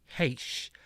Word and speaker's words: Heche: So, how do you pronounce this woman's name? Anne Heche. Heche. Okay. Yeah, Heche.